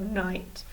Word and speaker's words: knight: night and that's about with our funny silent K and I G H T tick off fix well done everybody this word night is a bit of funny isn't it because it has a K at the star that we don't